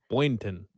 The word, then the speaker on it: Boynton: It is Boyn. Boynton. Ton. Yes.